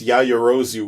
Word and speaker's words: Yaoyorozu: It's Kemerikusa, and it's Yayorozu, which you should know because it's the name of a character of My Hero Academia, Momo.